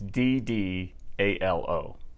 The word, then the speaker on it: Ddalo: Well, the computer says you pronounce the D's as if it was a T, as in Tom.